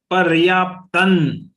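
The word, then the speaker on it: पर्याप्तं: Since there is anuswar on ta, there will not be any stress because of ta and was joint letter of next letter, but it will be pronounced like paryaptan.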